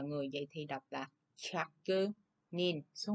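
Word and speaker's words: 百人: vậy thì đọc là Chakke Nin, số 1 ha. Chakke Nin. Đây. Chakke Nin. Nhớ ha, ở đây đếm người chúng ta là Nin nha, Nin chứ không phải là Jin nha.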